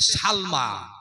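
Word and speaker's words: سلمى: আবু বকরের নাম হচ্ছে, মায়ের নাম হলো হযরতে সালমা। জোরে বলেন নাম কি? সিন লাম জবর সাল, মিম খারা জবর মা। কি রে হলো উচ্চারণ? সালমা।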